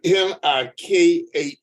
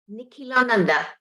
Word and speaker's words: Nikhilananda: I'll spell it. Nikhilananda. Nikhilananda.